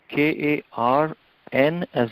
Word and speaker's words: Karna: No, K-A-R-N as in Nityananda, A. Oh, Karna. Means ear. Okay. So that Mahabharata character, his name also means ear? Karna?